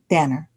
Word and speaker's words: Danner: Is it Danner or Daner? Danner. Danner, okay.